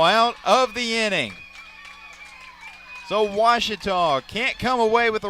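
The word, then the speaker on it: Ouachita: uh I've heard people say OA oh a Oita is it pronounced Oita searching for wasita Baptist University back in Texas everybody pronounces it witch but really it's was wash was how would you pronounce it was it's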